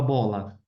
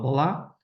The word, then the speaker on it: bola: Um exemplo, a palavra bola. Bola é paroxítono, não falo bolar.